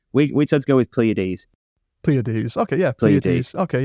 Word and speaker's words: Pleiades: So I banged it into Google, and the lady on Google, told me that it was pronounced Pleiades.